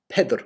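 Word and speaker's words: Peadar: i would say um they pronounced pedr petter with this with the old irish e surviving so the question is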